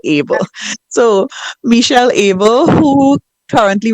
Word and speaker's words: Abel: Abel, right. God is able, right? So, like Abel.